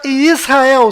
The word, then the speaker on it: Yisrael: Então a pronúncia correta desta palavra é I, S, Ra, El. Aqui está localizado Israel no mapa. E aqui está Israel sendo vista da Estação Espacial Internacional.